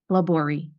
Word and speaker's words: Laborie: My last name is a French last name, and I am an American. So I don't even do it properly. But the way that I pronounce it and the way the family pronounces it is just Laborie.